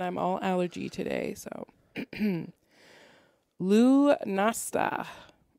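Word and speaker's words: Lughnasadh: and this last one is really hard to pronounce so forgive me and i'm all allergy today so lu nasta l-u-g-h-n-a-s-a-d-h what does it celebrate and it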